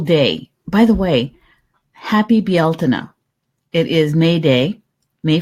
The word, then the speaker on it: Bealtaine: They would have jumped the fire last night, and today is Bealtaine. And I only know how to pronounce that correctly because of my good friend